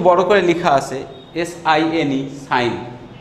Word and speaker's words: sine: আমাদের বইতে একটু বড় করে লেখা আছে SINE, সাইন, ইটা উচ্চারণ না করলেও চলবে।